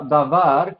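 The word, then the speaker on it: דבר: Entonces, en la palabra davar que vimos, var, la segunda sílaba, es la sílaba tónica porque enfatizamos eso.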